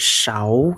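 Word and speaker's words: 勺: Ditambah ikut shao ya. Shi. Ini bacanya shi. Ini ada au. Nah, pinyin-nya shi au ya. Nada kedua shao ya.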